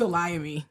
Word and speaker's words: Olayemi: And it's Olayemi. That chatter was right that time. And I was like, damn. Olayemi.